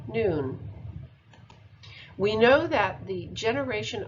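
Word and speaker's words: nun: force being expressed here the hebrew letter none pronounced noon is attributed to key 13.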